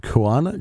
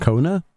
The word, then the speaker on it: Kuana: Another example is Lamati and Kuana. Kona, right? Kona, I think you'd pronounce that from a story. Uh I always call him Kuana for some reason, but it's Kona, right?